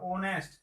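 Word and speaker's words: honest: ऑनेस्ट, इसका उच्चारण क्या है, ऑनेस्ट, इसका उच्चारण यहां से होता है ओनेस्ट। एच जो है साइलेंट है, इसलिए हमको क्या क्या देना है, एन।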